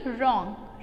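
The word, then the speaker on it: wrong: फिर हम पढ़ेंगे रॉन्ग, रॉन्ग में साइलेंट वर्ड क्या है? W।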